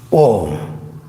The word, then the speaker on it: Om: A-kara transitions to U-kara, U-kara transitions to M-kara. M-kara transitions to silence. We will pay special emphasis to that silence that follows the pronunciation of the sacred word Om.